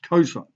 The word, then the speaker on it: cosine: And it gets lazy on the calculator and we abbreviate it to cos, but it's pronounced cosine.